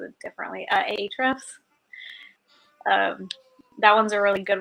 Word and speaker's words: Ahrefs: I feel like everybody else pronounces it differently. Ahrefs.